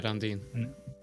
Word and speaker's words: Randin: Is it pronounced Randin? Yeah, Randin. Randin.